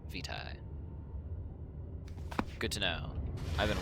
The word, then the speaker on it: vitae: Okay, it's not VTA. It is I went to look up the pronunciation, and then I immediately fucking forgot it. God damn it, man. It's just VTA? No, I was trying to figure out how to pronounce it. Vitae. That is how you say that word.